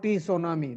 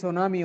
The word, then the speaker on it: tsunami: This is not T tsunami. This is tsunami only. T is silent.